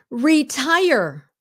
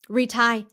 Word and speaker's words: retire: I can't tell you how many Vietnamese say this wrong. Retire. Please say the whole word. Well, how do the Vietnamese normally say it? Retie. What? Retie. I'm going to retie my shoes.